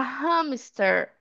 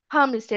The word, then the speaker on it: hamster: Então, esse H a gente está pronunciando, né? Então, a gente fala I have a hamster. I have a hamster. Hamster. Eu não falaria hamster, né? Eu falo hamster, ok? Então, o H aqui não é mudo, a gente está pronunciando ele.